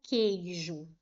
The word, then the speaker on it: queijo: Por exemplo, se eu coloco a palavra queijo, apareceu esse grupo aqui, ó, QU. Mas observem que eu não pronuncio o U, eu não falo queijo, queijo, eu falo queijo, tá vendo? O U não foi pronunciado.